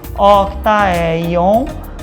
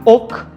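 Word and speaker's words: Ok Taec-yeon: Amado vilão, Octae, ó o C aqui, Octaeon, mas se lê Oktaeon, Oktaeon, tá?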